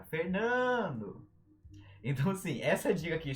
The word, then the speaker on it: Fernando: O meu nome, Fernando. Não tem acento, mas tem sílaba tônica. Fernando!